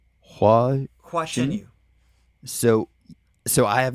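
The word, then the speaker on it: Hua Chenyu: Hua Chen Yu.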